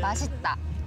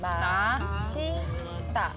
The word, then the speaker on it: 맛있다: 맛있다. M-A. 맛있다.